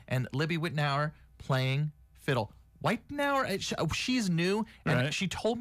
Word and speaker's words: Wittenauer: Whitenauer, she's new, and she told me how to say her last name.